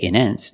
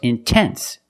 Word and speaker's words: intense: Example, intense. I put the stress after the NT, so I have to pronounce a T. I cannot say immense. No, it's intense.